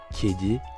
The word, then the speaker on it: kedi: On le voit dans l'exemple suivant avec le mot kedi qui signifie chat. Le E ici se prononce E.